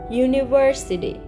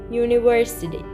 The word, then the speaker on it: university: But about the word university, university. Actually, it starts with U, but in pronunciation, it starts with ye.